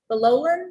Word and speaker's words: Bolan: I have um Bolan. Is it okay? Yes, you are saying it. You're saying it correctly.